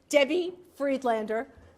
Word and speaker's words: Debbie Friedlander: for those of you he got my name wrong it pronounced it incorrect debbie friedlander the chair of the